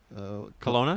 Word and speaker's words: Kelowna: Kelowna? Kelowna with a K.